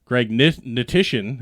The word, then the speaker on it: Hnatyshyn: With me to the left, the bald and the beautiful, Hnatyshyn is actually how it's pronounced, our producer.